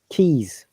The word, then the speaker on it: keys: Keys. Keys. Yeah, the S is Z sound.